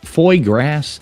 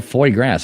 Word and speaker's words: foie gras: Foie grass is a French delicacy.